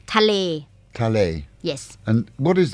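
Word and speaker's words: ทะเล: tal t t t it's two words is it t t but you very like speak it very fast tal tal yes and what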